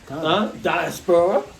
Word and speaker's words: diaspora: Diaspora, right? That's how you say it in Greek, right?